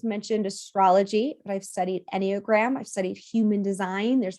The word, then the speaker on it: Enneagram: So I just mentioned astrology, but I've studied Enneagram, I've studied human design.